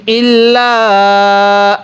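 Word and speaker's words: إلا: এরপরে ইল্লা, ইল্লা এর মধ্যে তিন আলিফ টানতে হবে। এবার এই চিকন চিহ্নটার পরে লম্বা হামজা, এই জন্য তিন আলিফ টানতে হয়। ফি শাইইন ইল্লা আন তাত্তাকু মিনহুম তুকাতান,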